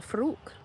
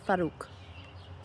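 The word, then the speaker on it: Farrokh: Sometimes he presents himself to me when he was still Farouk. I'm pronouncing that wrong. Farouk. He just corrected me.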